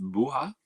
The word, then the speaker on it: Bua: Pronounced Bua.